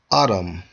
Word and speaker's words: Edom: in the Hebrew and its strong age 122 pronounce as Adam Adam according to the outline